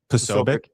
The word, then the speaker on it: Posobiec: How do you pronounce his last name? You can Posobiec.